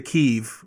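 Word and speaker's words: Kyiv: with kiev which uh i noticed that you pronounce um closer to keeve which is how the news media is now pronouncing it um and the spelling changed it's no longer k-i-e-v it's k-y-i-v do you do you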